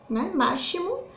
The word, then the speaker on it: máximo: não vai ter o som do x máximo a gente fala o que máximo é como se assistir ele pertence ao som do s ok nós temos outro